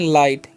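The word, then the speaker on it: light: एल आई जी एच टी। तो इसे हम लोग पढ़ते हैं लाइट। यहां पर जी एच साइलेंट होता है।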